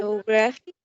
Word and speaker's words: photographic: We have one that's the primary stress in the third syllable, and we have another one that it's not that prominent, a second stress on the first one. So that's why it may be tricky, besides the fact that it's a long word.